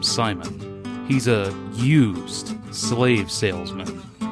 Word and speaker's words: Simon: introduced the villain Simon Simon Legree pronounced C Mon but I'm just going to call him Simon he's a used slave